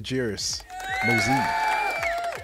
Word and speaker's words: Jairus Mozee: gentlemen without further Ado Mr jerus MOS what's going on brother how y'all doing did I say that right CU you know I know everybody butches your first name you actually yeah you say it right jar see we gonna